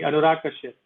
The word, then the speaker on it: Anurag Kashyap: No, you actually pronounce it quite correctly. Anurag Kashyap.